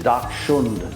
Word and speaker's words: Dachshund: The actual pronunciation is Dachshund.